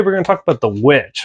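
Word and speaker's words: The VVitch: Today, we're going to talk about The Witch, or some people call it The Vitch, because that's how it's spelled on the poster and stuff.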